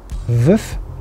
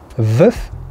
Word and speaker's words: Veuve: Number 2, Veuve Clicquot. One more time, Veuve Clicquot.